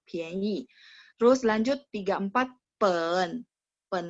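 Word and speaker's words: 便宜: Pian itu P-I-A-N, bacanya PH jadinya ya. Ini karena dia ada dua cara baca, jadi si komputer mentranslate-nya jadi pian. Ada satu cara bacanya fang pian, tapi bukan di sini ya. Kalau ini dia gabung sama i, jadinya pianyi, murah ya, pianyi.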